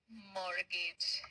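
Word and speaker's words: mortgage: टू पे ऑफ माय मॉर्गेज है ना तो बोल रहा है हां भाई मजाक नहीं कर रहा हूं लेकिन मॉर्गेज का मतलब क्या होता है इसको यहां पे टी साइलेंट है बच्चों यहां पे टी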